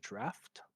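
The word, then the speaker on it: draught: Is drought. D r a u g ht is pronounced exactly like the word draft.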